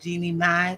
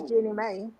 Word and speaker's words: Jeannie Mai: So it's new more details coming out too, y'all, about Jeannie Mai. That's how you say her name. How you say this child name? I thought it was Jenny May.